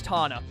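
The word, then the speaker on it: Tawna: to his girlfriend, whose name I think is Tana, is what I was told. I think it's Tana. One of my buddies, Hammerhead, in the comments told me like twice. I kept getting the name wrong. I think it's Tana. T-A-W-N-A.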